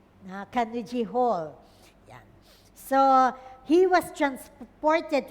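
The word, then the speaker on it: Carnegie Hall: Yeah, that's how they pronounce it. I just checked. Kanuji Hall.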